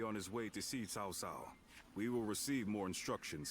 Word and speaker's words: Cao Cao: And yes, that is how you pronounce it, Cao Cao.